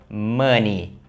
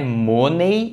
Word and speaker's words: money: é a maneira correta de falar essa palavra mani mani não é money e nem manei ou seja se finalzinho aqui